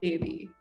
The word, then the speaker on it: Devi: But people find Devi much easier, but then again, they're not even pronouncing it properly. Yeah, Devi. So I had to sit down at work one day and I was like, it's Devi, which means goddess, which means put respect.